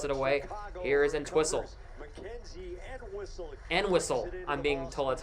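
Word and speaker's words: Entwistle: And whistle. I'm being told that's how you pronounce.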